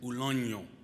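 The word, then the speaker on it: uloño: The word is ulonyo. Ulonyo. Can you repeat that after me? Ulonyo. It's spelled U-L-O-N-O with a tilde over the N.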